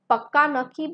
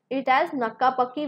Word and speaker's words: pakka nakki: So the right word is pakka nakki, but she pronounced it as nakka pakki, which is the absolute opposite of the word.